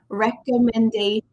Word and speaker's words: recommendation: Make sure the final T-I-O-N does not sound like a T. It sounds like shh, shh, baby, go to sleep. Recommendation.